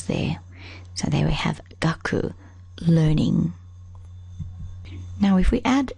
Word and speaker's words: 学: is this one here learning it's pronounced gaku and we already know